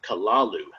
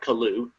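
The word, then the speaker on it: Cthulhu: may be taken as something like kalalu with the first syllable pronounced gutturally and very thickly. The u is about like that in full with the first syllable not unlike kaloo and sound.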